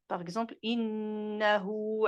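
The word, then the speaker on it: إنه: Comme par exemple, innahu ala raj'ihi la qadir. Innahu, deux temps.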